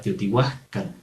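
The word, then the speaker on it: Teotihuacan: La H en el idioma náhuatl sí tiene pronunciación. Algunos lo escriben como un saltillo y es como un suspiro o una aspiración. Si escucharon hace un momento era la palabra Teotihuacán, como una J muy leve o como un pequeño suspiro.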